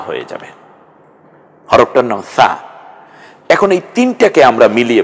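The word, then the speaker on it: ث: হয়ে যাবে, হরফটার নাম সা। এখন এই তিনটাকে আমরা মিলিয়ে পড়ে, সাটা নরম আওয়াজে জিহ্বার আগা সামনের দাঁতের আগার সাথে মিলিয়ে উচ্চারণ করুন, সা সা।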